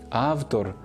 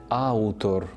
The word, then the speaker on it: автор: звуків а й справді пишемо і вимовляємо автомобіль а не Ау автомобілі автор а не аутор Павло а не Пауло але ця зміна пов'язана